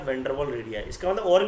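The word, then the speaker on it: van der Waals: तो WAAL वॉल है, इसकी स्पेलिंग में वाल है, वॉल नहीं है, ठीक है, वाल नॉट वॉल, सी my lips, ठीक है ना, तो उस तरीके से मैं प्रोनाउंस कर रहा हूँ, वैन डर वाल, ठीक है।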